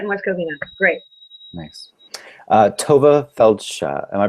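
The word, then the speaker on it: Tovah Feldshuh: Tova Feldsha, am I pronouncing that correctly? Yes, Tova Feldsha.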